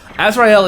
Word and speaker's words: Azrael: a little ignorant before Azrael is actually the way it is pronounced more commonly in sism and Islam uh and it's it's